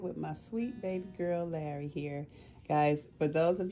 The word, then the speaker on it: Lari: Her name is spelled with the I. It's L-A-R-I. Yeah, I know Lari is a man's name, and some people leave it in the comments, spell it L-A-R-R-Y, but guys, she is the female version of the name Lari. It's L-A-R-I with the cute little I at the end.